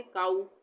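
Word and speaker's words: cow: डब्ल्यू आता है, तो यहाँ पे हम क्या पढ़ेंगे काऊ। यहाँ पे ये नहीं पढ़ेंगे कि को बोलेंगे हम इसको, ठीक है। उसी तरह से नाउ और अलाउ, सब में हम आ ऊ का उच्चारण करेंगे।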